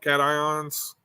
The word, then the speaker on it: cations: High salt concentrations, particularly of divalent cations, or is that how you pronounce that? Cations?